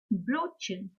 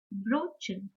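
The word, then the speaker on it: Brötchen: O umlaut is similar to yo, yo, with rounded lips. For example, Brotchen, Brotchen.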